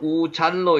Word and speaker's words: 우잘: 우살에 대해서 나오는데 여기는 우잘로 읽혀집니다.